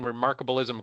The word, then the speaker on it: Remarkablism: never seen the word before so am I pronouncing remarkable ISM correctly that's it um you got it and